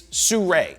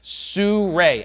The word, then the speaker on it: Sirui: It's Sirui. Sirui. Everybody say it with me now. Sirui. It's not some other pronunciation, it's Sirui.